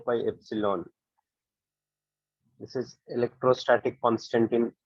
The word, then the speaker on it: epsilon: This is a Greek letter. It is pronounced as epsilon.